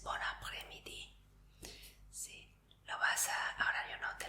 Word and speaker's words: bon après-midi: Entonces no se dice bon après-midi, sino que el bon y el après se juntan como uno. Entonces es bon après-midi.